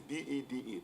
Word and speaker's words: Bede: My first name is Bede. And don't be afraid about the spelling. The spelling is B-E-D-E, but it is pronounced Bede. In fact, the remainder of the name is Venerable.